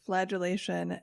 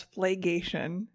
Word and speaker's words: flagellation: say that last week i pronounced flagellation as flagation so points to me oh